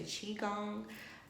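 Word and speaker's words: qigong: dance stretch i've been doing the ki gong i guess that's how you say it or some people say chi gong i've done that a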